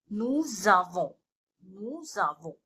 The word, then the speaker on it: nous avons: So here we have liaison also. So that's how we have to pronounce it. Nous avons, we have.